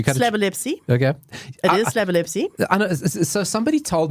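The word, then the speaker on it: Slabolepszy: It is Slabelewski. It's don't put a K in there. There's no K.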